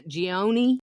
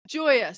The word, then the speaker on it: Gioia: Gioni. Say it. Gioia. Gioia. I love that last name. Say it again. Gioia. So it'd be Joya phonetically spelled.